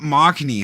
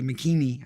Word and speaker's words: Machini: Machini, what is up, Machini? Haha, I said it right. I didn't say Makini.